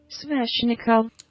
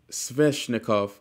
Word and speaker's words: Sveshnikov: Sveshnikov. Sveshnikov. Sveshnikov. They're saying it like it's an N in between it, but it's a V. So I'm just gonna say it like that. Sveshnikov.